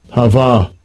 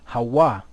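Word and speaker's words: הוה: Hava. Hava. So we know that there's no V in the Hebrew, so really what should it be? Hawa.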